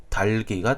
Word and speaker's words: 닭이: 열과 기억이 그대로 살려 반응 됩니다 그래서 오른 발음은 달기가 되는 것입니다 그럼 마찬가지로 밑에는 흑이 이곳도 발음이